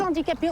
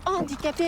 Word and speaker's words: handicapés: Écoute, tu arrêtes de dire des handicapés, on dit des handicapés. Il y a un H muet, je te l'ai toujours dit.